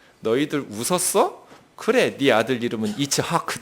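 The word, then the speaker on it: יצחק: 힘든 3개 알파벳을 모았어요 이츠하크 2차 아크가 아니에요 이 배에서 힘을 빵 줘 가지고요 공기를 위로 올려서 목구멍을 탁 쳐냈다 즉 그 이렇게 2차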